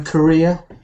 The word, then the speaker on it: career: work do you know another word which sounds just like Korea no I actually don't know well I'm thinking of an of this word you know Korea c a r e r Korea what do you do